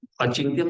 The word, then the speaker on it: अचिंत्यम: सर्वत्र गम अचिंत्यम, सर्वत्र गम के तो म को लंबा करें, अचिंत्यम उच्चारण जाना चाहिए।